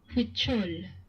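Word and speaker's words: Huichol: All right, back to pronunciations. Huchol, Spanish. Huchol.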